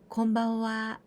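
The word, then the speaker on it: こんばんは: Konbanwa, konbanwa, we usually write in hiragana and the last part with ha, and we pronounce konbanwa.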